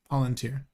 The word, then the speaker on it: Palantir: Palantir. Yeah. No, Thanks. Thanks, I guys. know I know that is the correct pronunciation, but it's Planeteer.